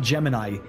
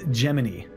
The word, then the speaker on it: Gemini: it's not Jiminy and it's not Gemini it's geminy it's like in between both I thought it was I thought it was Jiminy but they were saying giny which is an interesting way to pronounce that I I I can't